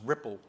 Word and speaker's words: RPL: see another protocol there called RPL pronounced Ripple in a sensor grid